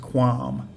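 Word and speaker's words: ความ: And the first 2 consonants are KW, and they're a consonant cluster, so this is pronounced quam.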